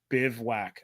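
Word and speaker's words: bivouac: By the way, the tent is pronounced Bivwack. I kid you not.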